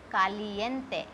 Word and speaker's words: caliente: carne, see, CA is there, then carne, meat, caliente, caliente, caliente is hot, corazon, corazon, corazon, corazon.